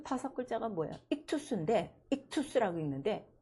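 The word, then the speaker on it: ἰχθύς: 익투스인데 익투스라고 읽는데 그 익투스가 뭐야?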